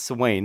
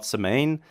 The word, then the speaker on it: Samhain: gallic Feast of sa yes it's s Wayne not s main Celtic languages are not